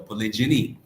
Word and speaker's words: polygyny: Therefore, polygamy is the big umbrella term, because under that, there is the word polygyny, like gyny, G-Y-N-Y, meaning multiple, polygyny, if you will, polygyny is how it's pronounced.